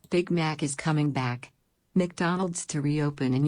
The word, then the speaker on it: McDonald's: McDonald's. 이게 맥보다는 묵에 가까워요. 묵. 그래서 나의 강세가 있습니다. 그래서 McDonald's.